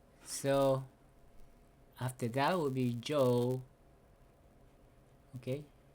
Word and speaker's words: Job: Okay, so after that will be Joe. Okay, So you pronounce Joe is not Job. Joe. Yeah, it's just that the B is silent. Job.